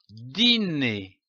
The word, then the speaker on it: dîner: Il se prononce comme un I long, comme par exemple une île, un dîner, un gîte.